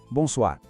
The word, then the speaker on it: bonsoir: A segunda parte, soir, tem o tal do R francês que às vezes assusta, mas é só um som que vem lá da garganta, como se fosse um gargarejo bem de leve. Tenta assim. R, soir. Juntando tudo, devagar. Bom, soir. Bonsoir.